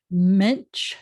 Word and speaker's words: mensch: Mensch, that's three consonants together, an N and a T and a Ch, which is actually a sh. But mensch, and often it's spelled like this. So, or with NT, so the ch is often a sh.